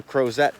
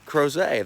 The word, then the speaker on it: Crozet: They're like, oh, Crozet. They referred to it as Crozet. I was like, oh, okay, Right. so that's how you say it.